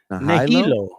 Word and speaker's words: Nahilo: It's pronounced Nahilo. Nahilo. Nahilo. Imagine the ne in the N word plus hilo.